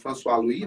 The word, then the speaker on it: François Louis: Essa abraçadeira aqui é uma François, se escreve François Luz, né? Mas François Louis, né?